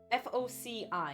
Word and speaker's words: foci: Am I pronouncing the word right? Foci? F-O-C-I.